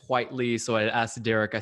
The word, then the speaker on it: Whiteley: it's it's i would think whitley but it's white lee so i asked derek